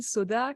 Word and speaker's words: Sauda: à tous je m'appelle soda comme le soda patron sauf que ça s'écrit pas pareil j'ai 25 ans et